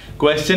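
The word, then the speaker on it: question: क्वेश्चन में है च की आवाज क्योंकि TION से पहले S लगा हुआ है।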